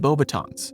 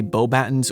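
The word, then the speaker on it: Beauxbatons: I've heard some of you guys in the comments say that in French it would be Bobbiton, but Dumbledore in the movie says Bobbaten, and I'm not French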